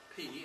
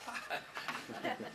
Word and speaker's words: pi: in Greek it was P, and in math it was pi. The real name of the letter is P. It's spelled P-I, and that's a long I pronounced E.